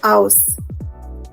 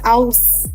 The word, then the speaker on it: aus: But mostly we say ich komme aus. Ich means I. Okay? Now some of you might be wondering, how do you pronounce aus? It is aus. Yeah? Aus.